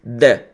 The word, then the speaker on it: the: no inglês seria o the. The, essa é a pronúncia, tá? The, que é o T-H-E. The.